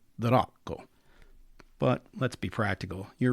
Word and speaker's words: D'Rocco: And say the rock, please, not drock. Ideally, you'd trill the r a little bit and say the rock.